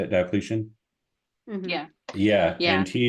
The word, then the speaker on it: Diocletian: Diocletian?